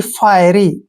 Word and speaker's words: fiery: देखिए FI का उच्चारण हम यहाँ पर फाय करेंगे, ऐसे फाय, और RY को हम री पढ़ेंगे, यानी कि फायरी।